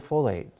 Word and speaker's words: folate: it from leafy greens the word folate it sounds like the word foliage right that's partly where